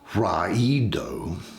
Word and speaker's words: Raido: But if we look at the rune itself, Rado, or it can sometimes be pronounced Raido, it actually means a wagon and traveling by land.